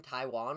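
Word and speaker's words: Taijuan: uh ty how do you say his name taiwan walker yep versus jameson taion i took ty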